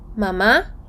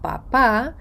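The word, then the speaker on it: mamá: і далі на словом па-па стоїть рисочка стоїть графічний наголос Він стоїть не просто так він стоїть щоб ви звернули увагу і вимовили наголошеною саме ту голосну над якою він стоїть іноді це може кардинально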